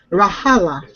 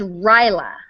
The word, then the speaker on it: Rajala: Rahala. Rahala. She says Right. Rahala. Rahala. Rahala. If it could be Indian and Rajala. Rajala. Well, I thought it was like Rahala, but it's Ryla.